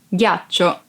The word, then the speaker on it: ghiaccio: Ghiaccio. Ice. Ghiaccio. Ice. Be careful because if you don't pronounce G as a hard sound like G, it would be ghiaccio, that it's a verb and means lie down.